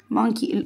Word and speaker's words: monkey: Monkey. O here is what? ينفع أقول يا grade one monkey? No. O here is silent.